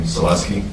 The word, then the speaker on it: Selesky: and that is the proper way to pronounce his name, Selesky. Slesky, right.